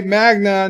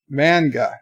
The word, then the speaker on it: manga: miles is Berta pray Magna not whatever you said Magnum I think you said but Magna is Japanese comments Magna manga manga a manga I always pronounced that magna